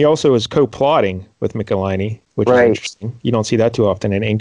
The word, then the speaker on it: Michelinie: so the creators here we mentioned a David Nicolini yep I learned to pronounce his name and I'm very proud he